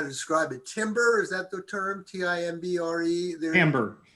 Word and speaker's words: timbre: Timbre, is that the term? Timbre? Timbre. It's pronounced timbre, but it's spelled like timber, but with R and E switched.